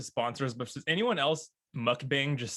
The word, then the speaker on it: mukbang: saying it right now is it mukbang or mukbang i would just thought it was mukbang it's like bang yeah mukbang okay yeah